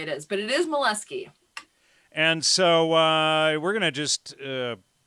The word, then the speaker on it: Moleski: Oh, no, the way you pronounce it is how you get teased. It's Moleski.